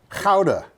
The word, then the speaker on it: Gouda: The Dutch is a funny language to pronounce. Keep coming. Gouda, the cheese, Okay, that's. it's Gouda.